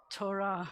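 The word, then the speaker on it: תורה: The hey is silent at the end of this, so this is the word that spells Torah.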